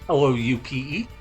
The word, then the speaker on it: Loupe: We already have an item that does this called the Silver Loupe or Lupe. I don't know how you pronounce it. It's Loupe.